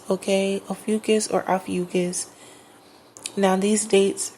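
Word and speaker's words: Ophiuchus: you can easily Google ucus okay there's another way to pronounce it and I want to make sure I'm saying it right or Aus right so it's spell o p h i u c h u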